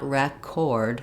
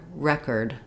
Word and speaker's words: record: But the second syllable is unstressed. Letters o r are not going to say or. It's not record, but rather record. We're going to have a short reduced unstressed syllable.